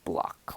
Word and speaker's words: bloc: spelled B LOC pronunciation block with like the K or C sound at the end like like kind of